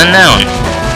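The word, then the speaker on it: Unown: These guys are called Unknown, or Unknown, depending on your pronunciation.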